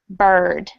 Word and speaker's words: bird: is a perfect example another common example that is mispronounced is this word bird that's an r controlled vowel and it sounds the exact same as stur and how about letter